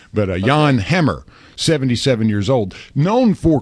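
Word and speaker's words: Jan Hammer: and hey John or I I guess you can say it correctly this morning Yan Leavonne the Pa King movie with Jack Black that's how I know how to say this guy's name right but Yan Hammer 77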